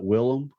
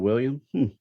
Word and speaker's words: Willem: do with it and you're actually supposed to pronounce it Willem instead of William now you know how